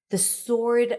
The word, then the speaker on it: sword: I want the sword of Godric Gryffindor. Glittered is sparkled or shined. And sword, remember that there is no W. Sword.